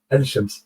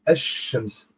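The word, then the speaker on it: الشمس: C'est là la différence entre El Qamar et Ash-Shams. Dans les deux, il y a l'article Al pour dire la soleil ou le lune. Vous voyez? Al, l'article Al. Mais il n'est pas prononcé.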